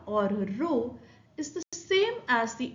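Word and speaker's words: rho: Now some authors prefer to denote it by the Greek letter row. If you spell it, it is R H O.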